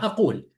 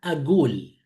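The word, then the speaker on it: أقول: fusha, dicen, yo digo, en fusha es ana aqul. Yo digo, ana aqul. En Bagdad, ellos dicen ana agul. El ka pronuncia como ga. Ahora, las personas de Mosul pronuncian qaf. Dice ani aqul, como qaf. Entonces, y Siria y Líbano y Egipto, la misma palabra, el qa, que es de Mosul, ga es de Bagdad. En Siria, Líbano y Egipto pronuncia el qa o el ga como a. Entonces la palabra dice aul.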